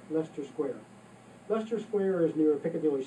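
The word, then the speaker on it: Leicester Square: Another tourist tip is the discount ticket um box office at Lester Square. And Lester, believe it or not, is spelled L E CR, pronounced L E S T. Lester Square.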